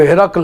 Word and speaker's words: ہرقل: جب وہاں گئے تو اس ہرقل نے پوچھا، اس کا اصلی عربی میں جو تلفظ ہے وہ ہرقل ہے. عام طور پر اردو میں ہرقل اس کو لکھ کر کے لکھتے ہیں، جس کو انگریزی میں ہرکلیز کہتے ہیں.